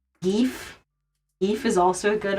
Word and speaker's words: GIF: I would also, back when it was, like, very much in the zeitgeist, to be like, is it GIF or GIF?